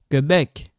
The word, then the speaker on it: Québec: This and this, when you see like this, it sounds like K. How? This becomes silent. So, when you see like this, okay, you pronounce a K. Because this U is a silent. You don't pronounce it. In reality, only like this, K.